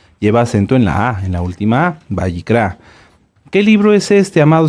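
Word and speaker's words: ויקרא: levit Amén muy bien el libro lo hemos conocido como levítico pero lo correcto es bicra ahorita les digo Qué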